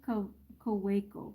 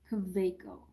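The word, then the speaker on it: Kaweco: We say Kaweiko, but in German it's the W, it's a V. Kaveiko.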